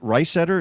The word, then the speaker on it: Reisetter: We also had some from your friend, Chris, is it Reisetter? Is that how you pronounce it, Rob? yes. Mm-hmm. Yeah, from Chris.